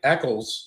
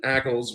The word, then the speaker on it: Ackles: find funny is that Jensen Eckles am I saying it right Jensen Ackles was in that movie the